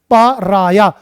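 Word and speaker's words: pariah: बेटा इसकी प्रोनाउंसिएशन क्या होगी लाडली, पराया।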